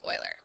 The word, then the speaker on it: Euler: one more big idea oilers method that is how you say it it's not like you cur it's like Euler as you would but it I have never heard it been anything other than Euler's method because it's it's another dead